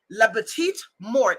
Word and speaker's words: la petite mort: Have you ever heard of le petite mort? La petite mort is the French pronunciation, okay?